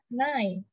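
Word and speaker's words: nein: kelakuannya kayak gitu cuma pelafalan yang sebenarnya adalah Nay yang artinya no kurang lebihnya itu sama kayak nine9 ini nih selanjutnya konsernya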